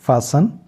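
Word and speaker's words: fasten: अच्छा 13वां प्रिंसिपल है अगर किसी लफ्ज के आखिर में टी ई एन हो तो टी हमेशा साइलेंट हो जाता है यानी कि जो भी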